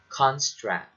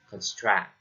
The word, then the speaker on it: construct: note of that next most two-syllable nouns have stress on this first syllable for instance the word construct if you want to use the word construct as a noun you have to stress it on the first syllable like construct not construct okay second we have